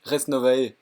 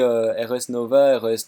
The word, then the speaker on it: Res Novae: gueules mais on rendrait ça se prononce reste nova voilà comme ça vous savez reste mauvaise mais si tu regarde ta vidéo la dernière il ya un moment où tu dis rs novès novès et puis à un